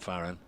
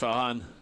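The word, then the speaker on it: Farhan: day sending me uh it's pronounced faren not faran it's pronounced farahan not faran pronounced farahan we've got there with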